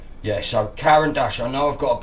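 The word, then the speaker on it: Caran d'Ache: Yeah, so Karen Dash, I know I've got a bit of a funny accent and other people don't.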